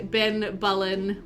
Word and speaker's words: Ben Bullen: You always want to say Ben Bullen with the bull like a male cat.